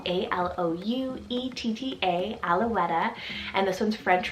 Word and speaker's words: Alouetta: more girls names here i have the name alouetta spelt a-l-o-u-e-t-t-a alouetta and this one's french rooted meaning lark